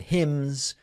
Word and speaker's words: hymns: It was 3+ hours of stories and prayers and hymns. Is that how you pronounce it? Hymns? The N is silent.